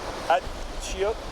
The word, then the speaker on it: achiote: And this, and I'm not sure how to pronounce this, Achiote?